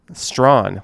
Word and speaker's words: Strachan: Strawn. Looks like Strachan.